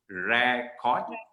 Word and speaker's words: record: okay now the uh the way we have been pronouncing is actually the verb sound of the word record but the noun is not pronounced as record the noun is pronounced as british english or uk english is rare chord record color u s